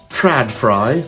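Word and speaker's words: TRÅDFRI: So IKEA have a brand, Tradfry, that's definitely how it's pronounced, and I've bought a couple of mains-powered Tradfries.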